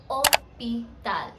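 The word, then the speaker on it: hôpital: the next letter दैट्ची here we wrote it एज़ एच ओ पी आई टी ए एल बट we pronounced it एज ओ पताल that means we started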